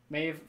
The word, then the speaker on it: Maeve: Siobhan, but it's spelled like the American Siobhan. Yeah. rather than the- SHY. yeah. Like, Maeve. Maeve is Maeve.